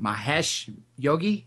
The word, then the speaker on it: Mahesh Yogi: I just know him as Maharishi is it Mahesh Yogi is that the proper pronouncing pronunciation of his name that's right Dr